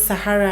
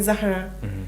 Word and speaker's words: Sahara: Sahara. Like that. Just simple as that. But then I also have friends who for some reason have stopped have cannot pronounce Sahara and and maybe they choose not to. So they always call me Zahara.